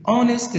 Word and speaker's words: honest: stay up late three honest students each at the beginning in this world is said like a honest honest not honest some students miss this word and they say honest with a sound no honest this is important